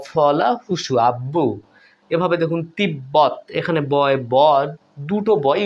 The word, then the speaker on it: তিব্বত: আ বয় ব ফলা হুসু আব্বু এভাবে দেখুন তিব্বত এখানে বয় বদ দুটো বয় উচ্চারণ হচ্ছে তিব্বত গম্বুজ এখানেও বচ্চারণ হচ্ছে দেখুন